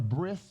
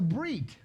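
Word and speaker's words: ברית: You ever hear of a bris? What is a bris? That's the circumcision, right? Well, it's a brit. Brit is covenant. B-R-I-T. And why don't they say a Brit?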